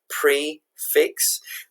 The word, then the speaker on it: prix fixe: Prix fixe, or this is spelled P-R-I-X-F-I-X-E, but it's prefix.